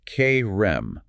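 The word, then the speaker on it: חרם: And Third, and most importantly, Yahweh placed Jericho under the cherem, which is pronounced K-Rem, the band of devotion to destruction.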